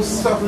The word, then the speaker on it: subtle: doesn't share how subtle subtle is something spelled with a beat the same sub is your idea but they make it silent so subtle it is all of